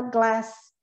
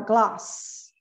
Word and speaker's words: glass: E aqui que a gente vai observar a pronúncia dele, como ele é britânico, ele não fala glass, ele vai falar glass, of your glass.